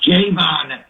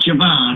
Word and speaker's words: Javon: from me whenever Javon makes it and he pronounced Jayvon not Javon jaon no Kidd whenever he gets a sack